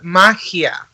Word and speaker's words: magia: Okay, in Spanish is magia. Magia, like magia. Mm-hmm. Yeah, like magia Okay, with the G. magia.